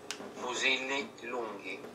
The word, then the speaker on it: Fusilli Lunghi: Fusilli Lunghi.